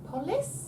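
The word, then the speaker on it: πόλις: Polis? Yeah. Oh, of course. Polis. Polis. And it means city, so, I mean, that's just obvious, isn't it? Politician. Mm. Politics. Metropolis. Polis. Polis.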